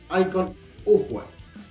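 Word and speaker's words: Iko Uwais: 2014 dirigida por Edward y protagonizada principalmente por icon ower así se pronuncia si hay por sí la primera entrega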